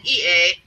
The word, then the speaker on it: Ea: The Sumerian or Mesopotamian spelled it E-A. That's Enki. Ea is how you pronounce it.